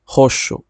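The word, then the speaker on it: roxo: লরেঞ্জা লারাজা বেগুনি রং কে বলা হয় পর্তুগিজে হস্য হস্য আর গোলাপিকে বলে হজা হজা যাদের এই বয় শূন্য র এর মত উচ্চারণ করতে সমস্যা হয় তারা আপনার এটা রোজা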